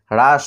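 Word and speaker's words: rush: তারপরে যেমন আর ইউ এস এইচ এটার উচ্চারণ দেখো রুশ না হয়ে হ্রাস হয়। তো এখানে দেখো ইউ এর পরে এস এইচ রয়েছে, তা সত্ত্বেও কিন্তু এখানে উর মতো উচ্চারণ না হয়ে আর মতো হচ্ছে হ্রাস, এটার উচ্চারণ হলো হ্রাস। এখানে রুশ না হয়ে হ্রাস হচ্ছে।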